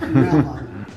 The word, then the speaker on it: Melbourne: any Australians out there I believe it's called pronounced melbour is it melb you guys let us know is Warren right or am I right stutter a bit it's melin melin if you're a true Aussie Like Me It's Melvin I can't